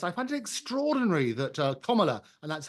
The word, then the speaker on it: Kamala: And I have to say that your last guest, I find it extraordinary that Kamala, and that's how you pronounce her name, she spent an absolute fortune